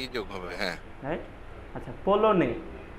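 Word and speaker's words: polonais: আচ্ছা, পোলনে, পোলনে, পোলোনিস, পোলোনিস, পোলোনিস ই যোগ করতে হবে। আচ্ছা, মাস্কুলার উচ্চারণগুলো পলো নে, হ্যাঁ, নে পর্যন্ত, পলো নে, হ্যাঁ, এস এস উচ্চারণ করতে হবে না, তাহলে এই পর্যন্ত, রাইট?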